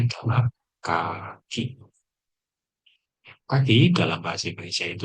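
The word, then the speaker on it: 柿: Cara bacanya adalah kaki.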